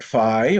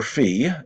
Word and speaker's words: phi: We've got phi or phi. You can pronounce it either way.